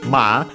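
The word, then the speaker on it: まあ: First and foremost, she says ma uh with uh the two a so a longer a in pronunciation.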